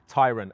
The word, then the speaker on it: Tayron: is the new Volkswagen Tyron and it's Tyron not Tyron just to get that right uh for those confused about how that might be pronounced well this is the